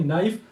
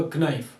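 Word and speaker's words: knife: यहां पे आप देखिए नाइफ। अगर हम के को साइलेंट नहीं करते तो ये होगा क्नाइफ। अब क्नाइफ नहीं होता।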